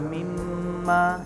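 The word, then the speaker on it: مِمَّا: Jadi bacanya ditahan 2 harokat. Jadi jangan cepet-cepet. Contohnya nih, tidak di materi itu ada. Contohnya wa mimma rozaqnahum, wa mimma, di mimma itu mimnya tasdid ya.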